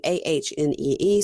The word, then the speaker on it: Ani: Let's move on to Matt and Imani and Ani, who now I'm just writing AHNEE, so I say it correctly.